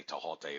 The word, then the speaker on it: Thoth: The whole thing dealing with the emerald tablets of Tahote, and I did say Tahote. There actually is no TH sound in the ancient Egyptian languages, so it's not pronounced Thoth, it's really Tahote.